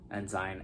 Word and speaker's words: ensign: so yeah that's the enzyme banner enzyme ends in banner depending on how you want to pronounce it the next is the